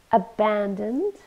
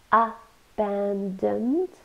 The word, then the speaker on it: abandoned: Abandoned. Abandoned. Three syllables. It's an adjective, so we stress the second syllable. Abandoned.